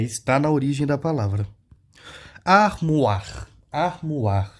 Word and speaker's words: armoire: Armoire. Armoire. Pronuncie. Armoire. É o armário. E aí você pronuncia o OI, tem som de UA em francês.